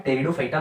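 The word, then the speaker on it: Pteridophyta: ठीक है, तो आप यहाँ पे देख पा रहे होंगे, यहाँ पे पी जो है ये साइलेंट है, तो इसका नाम है टेरिडोफाइटा।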